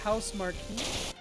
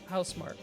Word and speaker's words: Housemark: Nick, you almost had it, but then you said House Marquee. Instead of what? How do you pronounce it? Housemark.